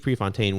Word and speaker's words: Prefontaine: Prefontaine.